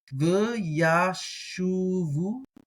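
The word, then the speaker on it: וַיָּשֻׁבוּ: V'yashuvu. And notice that the beit doesn't have a dagesh, so typically going to be pronounced as a V sound.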